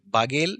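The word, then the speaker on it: Baghel: बाघेल बी ए जी एल नॉट बी ए जी ई एल E silent है यहां पे।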